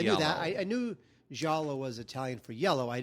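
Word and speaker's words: giallo: mispronouncing the word well we're supposed to say like yellow like yellow yellow yeah yow but but everyone I know says gialo so I have to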